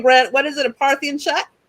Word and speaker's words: Parthian: A Parthian shot? Parthian, as in the Parthian Empire.